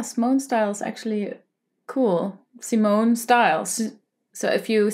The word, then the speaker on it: Simone Style: is like Simone style so you pronounce it as how you would say my name Simone so not smon as in the moon but s style SM